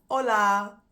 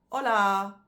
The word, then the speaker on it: hola: three languages for me hola hello hello um it's just with Spanish you don't pronounce the h um but with the